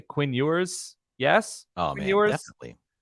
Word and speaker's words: Ewers: I'm going to say Quinn Ewers.